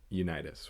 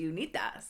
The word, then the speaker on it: Unitas: games, breaking a 50-year streak held by Johnny Unitas, which I think that's how you pronounce it. Correct me if I'm wrong, listeners. I was going to say Unitas. Unitas.